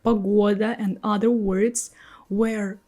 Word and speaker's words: погода: But then you suddenly see the word погода. G stays between two o. But we pronounce it as g.